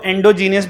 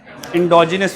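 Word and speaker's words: endogenous: Pronunciation सही कर लेना, इसको एंडोजीनियस पढ़ेंगे बच्चे। क्या पढ़ेंगे? पहले एंडो करेंगे फिर जीनियस पढ़ेंगे। जीनियस है ना वो माशाल्लाह बच्चे, एंडोजीनियस। तो इसकी जो सही वाली प्रोनाउंसिएशन होती है इसको सारा जल्दी से पढ़ते हैं, पता नहीं लगता कोई आग है जिसके वो जल्दी से गुजरना है। इसको पढ़ते हैं एंडोजीनस।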